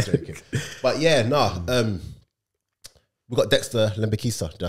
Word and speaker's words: Lembikisa: But yeah, we got Dexter Lembikisa. Did I say it right? Lembikisa.